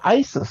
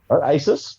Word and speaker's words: Asus: gone I thought that then I I saw Asis remember you know Asis the computer company it's actually pronounced Aus Asus yep preview I had the thing on Asus